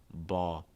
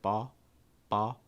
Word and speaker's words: ball: is not actually pronounced it usually just makes like an ah sound ah like in law or saw you're raising that back